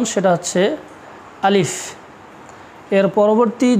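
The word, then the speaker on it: ألف: উচ্চারণটা একটু ভালো করে তোমরা খেয়াল রাখবা, এর সঠিক যে উচ্চারণ সেটা হচ্ছে আলিফ।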